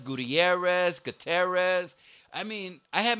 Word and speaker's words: Gutierrez: for somebody to tell me yeah i was guterres gutierrez gutierrez i mean i had my name pronounced differently every time i had a year